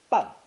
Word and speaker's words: 半: Pronounced fourth tone, 半, 半. 把大的包子切成两半.